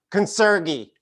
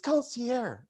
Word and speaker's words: concierge: This is how she pronounces concierge. Consergi. Consergi. I'm not kidding you. And you got to put a Southern accent on it too. Consergi. I'm like, I think it's concierge.